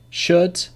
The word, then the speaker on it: should: Calm, half, talk, walk, would, should, could, calf, salmon. So these are examples when the L is not pronounced. But remember, the rule is not pronounced after the vowels A, O, or U.